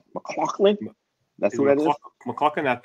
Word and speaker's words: McLaughlin: McLaughlin. That's how you say it.